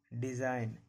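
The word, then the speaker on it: design: जब किसी वर्ड में जी के बाद एन लगा रहे। जब भी जी के बाद एन रहेगा, जब भी जी के बाद एन रहेगा, जी साइलेंट रहेगा। रिजाइन, डिजाइन, नोम, साइन।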